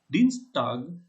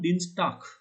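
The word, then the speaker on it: Dienstag: the german pronunciation and dean's tag will become dean stark yeah so there is a pronunciation of kha in the end so try to pick up take up this point amdinstark vexel zis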